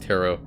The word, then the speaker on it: tarot: tarot card tarot card i keep on saying territ by accident i think it's pronounced tarot this book hmm i